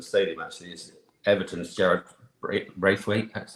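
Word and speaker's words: Branthwaite: Actually, is Everton's Jared Braithwaite. That's how you pronounce it.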